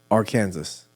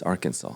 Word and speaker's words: Arkansas: Or Kansas. It's Arkansas.